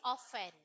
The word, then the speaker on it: often: one okay you say often often silent t often often very good okay